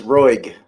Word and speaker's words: Roig: It's Roig. Roig? Yep, like Roy with the G at the end of it.